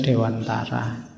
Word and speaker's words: Dewantara: Ki Hajar Dewantoro ya kalau pakai bahasa Jawa kan bacanya Dewantoro nanti yang mungkin tidak familiar ya bunyinya jadi Kia Hajar Dewantara nak apa-apa sama kayak